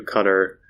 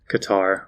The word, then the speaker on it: Qatar: i'll fly back here and then fly to cutter qatar however you want to pronounce it with the team so basically the